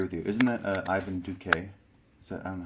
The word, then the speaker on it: Duque: Isn't that Ivan Duque? Is that, I don't know how do you pronounce his name.